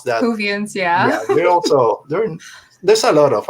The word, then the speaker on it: Whovians: I mean, Doctor Who fans out there, Whovians or whatever you pronounce that. Whovians, yeah.